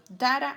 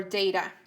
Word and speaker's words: data: to show data to people data or data those are the two possible pronunciations moving on it says